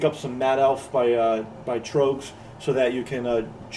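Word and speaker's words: Tröegs: And the beer we've gone with is Trogs. I say it right? Yes, Trogs.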